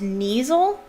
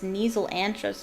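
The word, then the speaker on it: Kneazle: This is, yes, I think it's pronounced Neasel.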